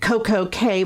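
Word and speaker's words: CocoCay: went to coco k is really should be coco key but they pronounce it royal caribbean pronounces it coco k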